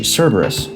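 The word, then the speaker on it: Cerberus: Cberus, that was that's how you pronounce his name.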